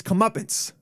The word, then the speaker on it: comeuppance: But people, but now I blame it on the fact that people are saying comeuppance. It's comeuppance. But they're saying it wrong.